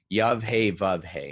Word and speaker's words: Yahweh: the old testament is the word yahweh yave hey and that's how scholars approximate its pronunciation and where this actually